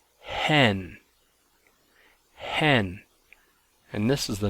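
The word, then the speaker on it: ἕν: rough breather Mark instead of saying n it's pronounced hen hen and this is the number one um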